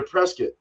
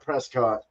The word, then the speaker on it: Prescott: at they're in they're presc presc AR a um and that is the proper way to say it's not Prescott don't say it that way um this is a